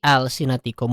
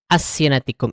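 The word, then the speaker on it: ألسنتكم: Jadi dibaca dibacanya jelas ya. Alwanikum alfi alsinatikum bukan awwanikum afi asinatikum. Itu salah ya.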